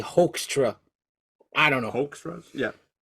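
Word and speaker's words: Hoekstra: h i I say HRA I don't know HRA yeah like a hoax yeah but it's h o e k s St stra um so he's got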